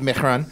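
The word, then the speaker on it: Mehron: Mehran. So it's Mehran. It's French. It is actually supposed to be pronounced Mehran.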